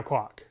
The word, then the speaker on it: Klock: road, same speed, stock, now Klock. It rhymes.